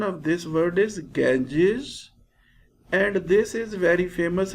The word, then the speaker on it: Ganges: Hills North of the river Ganges dear students pronunciation of this word is Ganges and this is very famous river in India